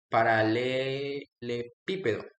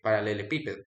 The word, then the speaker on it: paralelepípedo: Se pronuncia paralelepípedo, así se paralelepípedo.